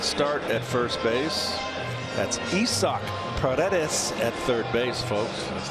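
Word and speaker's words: Isaac Paredes: base his sixth start at first base that's isoc Paredes at third base folks that's the proper pronunciation just thought I'd throw that in there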